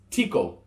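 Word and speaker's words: tiko: we coach equally vein you're gonna hear Chico all the time but it's Tico written down all right so be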